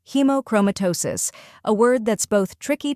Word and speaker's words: hemochromatosis: The correct pronunciation is hemochromatosis. First part, hemo, sounds like he as in he and mo as in moment. Second part, chroma, emphasize chroma, like chrome with a slight sound at the end. Third part, tosis, like toe and sis, as in sister. When you put it all together, it's hemochromatosis. Let's practice together now.